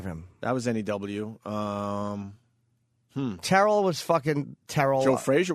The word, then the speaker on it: Terrell: Terrell.